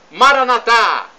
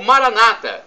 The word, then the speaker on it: Maranatha: de Jesus é o clamo Maranatha como dizemos nós católicos ou Maranata como dizem nossos irmãos separados os evangélicos ou é os protestantes não importa a pronúncia porque o significado é o mesmo significa vinde Senhor Jesus